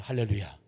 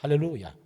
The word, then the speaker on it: 할렐루야: 끊어 읽으려면 할렐루야 이렇게 읽어야 돼요. 복잡하면 그냥 다 붙이세요. 할렐루야. 빈틈을 보이지 마세요. 그래서 빈틈을 보이지 말든지 아니면은 조금 보이려면 조금 숨이라도 쉬려면 할렐루야 이렇게 해야 됩니다. 할렐루야. 그게 정확한 발음입니다.